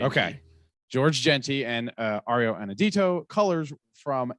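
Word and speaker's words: Georges Jeanty: I've heard, the problem is I've heard multiple ways to say his name from people that know him personally, and I believe it's just George Genty. Okay. George Genty and Ario Anadito.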